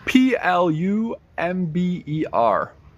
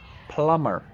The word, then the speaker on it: plumber: I pronounce this word it has a silent letter yes the B is silent p u b r p u m b e r is pronounced plumber plumber Mario is a